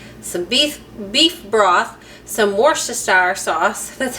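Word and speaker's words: Worcestershire: diced up onion, some beef beef broth, some worst sour sauce, that's how you say it, and then I don't have cream of mushroom, but you're supposed to use it, I guess.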